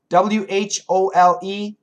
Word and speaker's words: whole: W-H-O-L-E, whole. W-O-O-L, wool. Whole, wool.